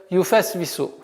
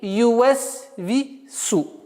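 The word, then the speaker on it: يُوَسْوِسُ: К большому сожалению, одной из самых распространенных ошибок это является юфасвису. Вау или ювасфису. Вместо вава произносят звук фа. Нужно очень быть внимательным, потому что буква фа и вау – это губные звуки, произносятся с губ, и поэтому нужно более убедительно и четко стараться произносить этот звук.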